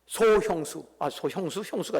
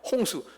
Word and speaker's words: 홍수: 형수가 아니고 홍수, 소홍수. 말이 좀 발음이 그래요.